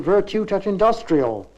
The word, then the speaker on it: Virtute et Industria: virtuous in the bargain, because we natives do pronounce it Virtute Et Industrial.